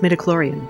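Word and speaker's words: midichlorian: And it's pronounced metaclloran. I need an analysis of this blood symbol I'm sending you. I need a medicloran count.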